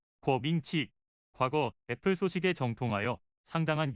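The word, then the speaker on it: 郭明錤: 소위 애플바라면 한 번쯤은 들어보셨을 거라 생각되는 곽명기. 아, 이건 한국 발음이고 우리가 듣던 이름은 궈밍치.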